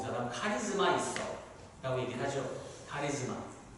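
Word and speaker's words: χάρις: 여기 은혜라는 단어는 이 원어를 제가 발음을 하자면 카리스라는 단어가 되겠습니다.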